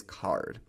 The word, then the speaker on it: Carrd: The first no-code tool that I'm going to recommend in this video is Card. That's spelled C-A-R-R-D.